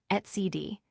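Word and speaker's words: etcd: Etcid developed by core OS now part of Red Hat etc pronounced CD is a highly available key value store used to store critical data in distributed systems.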